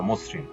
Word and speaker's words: মসৃণ: ম এর সাথে যুক্ত অটা ও এর মত উচ্চারণ হয়েছে মসরিন একইভাবে কর্তিকারক যক্রি ইত্যাদি ছয় নাম্বার শব্দের আদিতে অ যুক্ত রফলা থাকলে উক্ত অ এর উচ্চারণ ওকারার মত হয়।